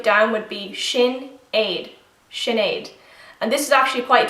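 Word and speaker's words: Sinéad: of the Rings so Gollum column it's easy Sinead sorry you pronounce this name and break it down would be Shin Aid Sinead and this is actually quite traditional Irish name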